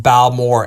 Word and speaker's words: Balmorhea: us a a taster of Balore pronounced Bal Moore a cast strength is 130.2 proof.